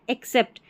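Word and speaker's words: except: और ये जो ई से ई एक्स से शुरू हुआ है ना एक्सेप्ट इसका मतलब होता है के अलावा। तो दोनों का उच्चारण सेम है।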